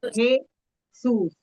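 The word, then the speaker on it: Jesús: O som de J é Ro, Ra, Re, Ri, Ro, Ru. Como se tivesse som de R, tá?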